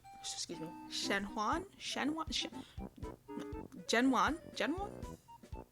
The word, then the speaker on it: Zhen Huan: We are going to be doing Empresses in a Palace: The Legend of San Juan. Excuse me, Shenuan. Shenuan. Genuan. Genuan. Genuan. There we go. Got to get that pronunciation game.